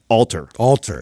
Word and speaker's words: Alter: we figure out how to pronounce the last name? Alter. Yeah, yes. I was saying Atler.